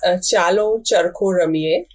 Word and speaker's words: Chalo Charkha Ramiye: Can you tell me how to pronounce that? Chalo Charkha? It is Chalo Charkha Ramiye.